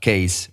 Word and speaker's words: KAAZE: something tell him that my name pronounced case and almost like a case if he doesn't